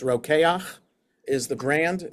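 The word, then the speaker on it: Rokeach: Just by the way a kosher brand is roak or maybe some people pronounce it roich like reach for roach but it's roak is the brand it's from this word um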